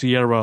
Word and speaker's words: Ciara: It's pronounced Ciara, like the singer.